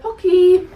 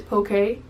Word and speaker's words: Pocky: So I got the Pocky, and these are the Almond Crush ones. Apparently, according to someone watching the Tim Tracker, we've all been saying it wrong. And it's Poke.